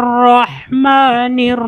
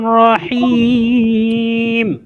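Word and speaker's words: رحيم: রাজিম জি মাশাল্লাহ জি তারপর আমরা দেখি বিসমিল্লাহির রাহমানির রাহিম বলেন বিসমিল্লাহির বিসমিল্লাহির রাহমানির রাহিম রহিম কেন রহিম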